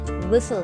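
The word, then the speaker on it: whistle: Guys, विस्टलिंग में T silent रहेगा, तो you have to pronounce it विसल, यानी विस्टलिंग।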